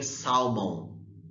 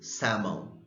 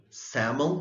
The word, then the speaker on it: salmon: are used to saying salmon but the correct pronunciation is salmon salmon like cat like lamb like cabbage okay so far any